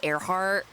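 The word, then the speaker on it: Earhart: I know it's spelled like earheart, right? But her name, she was a pilot and she was named Airheart. Dang.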